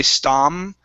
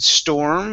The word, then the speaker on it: storm: nice um your like your o r you didn't say stom you said storm and you curved the tongue